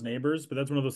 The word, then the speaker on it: Nabers: There's Neighbors who, I swear, I know it's pronounced Neighbors, but that's one of those things of the broadcast. You look at that, I'm like, that says Nabbers.